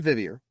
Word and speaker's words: Vivier: time 16 minutes Sean vivier pronounced like Vivian only with an R is a web app